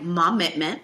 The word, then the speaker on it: Mommitment: It's hashtag Mommitment. It's spelled just like commitment with an M at the front.